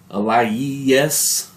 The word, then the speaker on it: Aliyes: gonna butcher the names it's a l i y e s so i'm gonna say a lie yes lies uh there's a